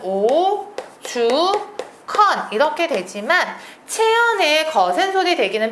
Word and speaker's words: 오죽헌: 쓰나요 합 덕 이렇게 쓰셔야 됩니다 주도 마찬가지로 발음은 오 주컨 이렇게 되지만 체연 거센소리 대기는 표기에 반영하지 않는다